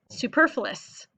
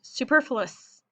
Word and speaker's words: superfluous: All right, your next word, boys and girls, is superfluous. Okay, listen to how it's pronounced. Superfluous.